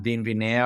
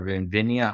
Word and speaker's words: Vinvinea: Well, no, just thank you for the time, and we are available on Vinvinea or Vinvinea, however you want to pronounce it. It's either way.